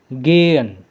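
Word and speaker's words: gehen: Nah, ini H-nya jangan dibaca untuk mempronsiasikan jangan dibaca. Jadi, H-nya itu dihapus aja. Jadi, pronunciasinya itu G. Oke, jelas ya suara saya gen oke teman-teman bisa ulangi biar ingat.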